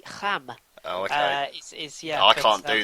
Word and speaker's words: Reims: Rennes against a Rem. Is that sort of? Yeah, it's terrible. Kinda. I mean, it's one of those that if you say it properly, it makes you sound really pretentious. It's technically Ham.